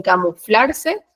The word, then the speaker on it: camuflarse: En méritos se carga la voz en me, y en camuflarse, en flar.